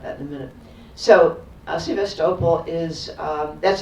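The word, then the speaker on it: Sevastopol: You know, we have a city in California called Sebastable and it's very tempting to pronounce it like that, but that's not the way they say it.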